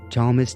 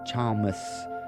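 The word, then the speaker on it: Chalmys: c-h-a-l-m-y-s thomas in fact it sounds a lot like this other word from the dune series which was at chong i believe it's thomas and it's the name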